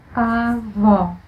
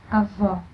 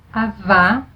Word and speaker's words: avó: To pronounce open sound O, you have to keep your mouth just a little rounded, and now you drop your jaw. O, avó, avó. It's not avá or avó, it's avó, a very short sound.